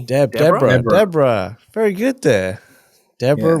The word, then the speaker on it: Deborah: deborah very good there deborah rhymes with zebra ah yes the old